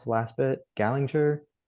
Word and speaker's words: Gallinger: Actually, is that the right way to pronounce the last bit? Gallinger? Gallinger.